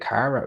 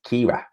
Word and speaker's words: Kira: And whenever I see like a K, I'm always thinking like, is it Kara? It's Kira.